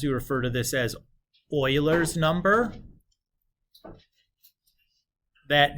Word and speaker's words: Euler: base or sometimes you refer to this as Euler's number that name e u l e r is pronounced Euler he's a rather well-known I think